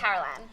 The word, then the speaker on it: Carolan: gonna go with Carolan. Because Let's do it. everyone was Sounds saying cool. Carolyn, but I'm like, but it would have been spelled with a Y.